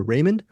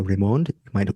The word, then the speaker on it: Raymond: I would have always called her Raymond, but it's Tanya Raymond.